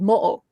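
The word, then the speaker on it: Moʻo: there is a shape-shifting water dragon uh, called Mo. And I if I pronounced that wrong, I'm sorry.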